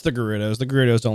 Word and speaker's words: Gerudo: Always use the hard G. I thought so too. Like I've always heard. I always remember Gerudo, like Gerudo Valley and all those. But did I mess up? No, that's the right way.